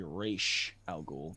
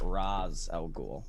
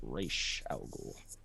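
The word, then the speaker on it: Ra's al Ghul: um rachel ghoul and i say race algol because that's how you say it it is not raz al ghul it's rache al ghul he's an incredible fun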